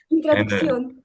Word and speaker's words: introducción: But in my group, everyone learned English, and they for everyone it's a bit hard to pronounce Spanish words. Introduction, kind of Introducción.